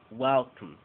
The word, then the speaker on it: welcome: más de dos sílabas como Welcome volvemos a lo que dijimos en la clase anterior la sílaba tónica Recibe toda la atención W y la sílaba atona una Welcome Welcome en la palabra l